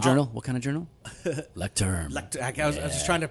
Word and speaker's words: Leuchtturm: Lecterm. I was just trying to pronounce it the right way. Leuchtturm.